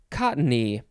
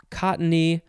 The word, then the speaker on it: cottony: next is it is cottony you can say cottony uh or cottony two syllables or three syllables it's just the word